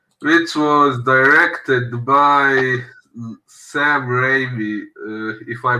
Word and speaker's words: Raimi: Powerful from 2013, which was directed by Sam Raimi, if I pronounced that name correctly. Correct, Sam Raimi, who, if anyone, if you know anything about,